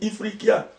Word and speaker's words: Ifriqiya: Historiquement, même le mot Afrique, c'est un mot berbère qu'on prononce, je vais peut-être l'écorcher, on dit Ifriqiya, qui veut dire le pays des hommes noirs.